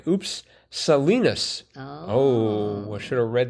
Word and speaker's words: Salinas: Salinas with an S is in California, and unlike its Kansas counterpart, is pronounced with a short I. Oops. Salinas.